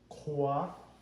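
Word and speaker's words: qhuav: The Q is the ka sound. The QH is aspirated. Ka, ka. Just like right here. Kwa, kwa, which means dry.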